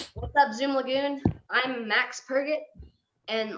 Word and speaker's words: Max Purget: I didn't want to say the name wrong again. Max Purget.